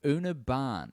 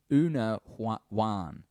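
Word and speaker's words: Úna Bhán: It's an Irish song called Una Ban. Oh, she's got a pronunciation guide. That's so good. Una Wan.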